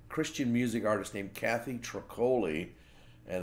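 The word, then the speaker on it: Troccoli: music artist named Kathleen truck holy and it's spelled like broccoli but with a T so anyway that's truck holy and she has been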